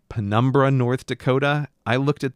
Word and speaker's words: Pembina: I know that there is no R sound in that town name.